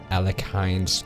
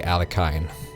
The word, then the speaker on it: Alekhine: have done mission one of aline's gun or Aline there is a possibility it is Aline but I'm going I'm going to say alakin I think the pronunciation depends on who you ask I look like a